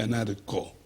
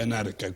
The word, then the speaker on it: anarca: En español no se dice anarco, se dice anarca, como geómetra, no se dice geómetro.